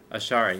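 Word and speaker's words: Ash'ari: How do you pronounce that, Steve? Ashari? Ashari, yeah. Ashari.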